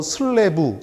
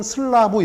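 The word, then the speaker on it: slab: 콘크리트 바닥판, 이 콘크리트 바닥을 갖다가 영어로 슬래브 또는 슬라브 이렇게 발음해요. 왜 슬래브든 슬라브든 하나만 쓰지 둘 다 씁니까? 영국 발음하고 미국 발음의 차이예요.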